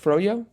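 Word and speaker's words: froyo: fro yo fro yo is that how it's pronounced froo yes okay froo I didn't know that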